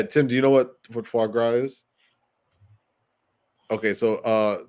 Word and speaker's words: foie gras: Oh, foie gras. It's yeah, so I said it right. Tim. Yeah, Tim. Do you know what foie gras is?